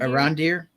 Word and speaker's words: Arondir: Arondir.